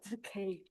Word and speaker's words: bouquet: It's a French word and it is pronounced like bouquet.